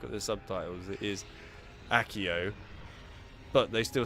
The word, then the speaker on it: Accio: Sure, they might have said the spell for I nearly said it wrong myself. Accio as Axio.